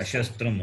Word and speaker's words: अशस्त्रं: Therefore, अशस्त्र ashastram only, not अशस्त्र shastram. It is male and nun, makara and a. So when you split, you have to शस्त्रं say it properly.